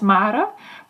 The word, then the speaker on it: Mare: Because my name, I pronounce it as Mare, but I know in English it's not that easy to pronounce it.